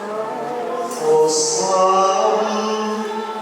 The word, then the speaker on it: Hosanna: Di situ yang harus diucapkan lebih jelas adalah N. Hosanna, Hosanna, Hosanna in excelsis.